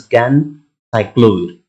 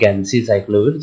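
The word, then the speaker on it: ganciclovir: and trifluorite so actually the uh pronunciation of this is can cyclovir not gansey cyclovir sorry for that it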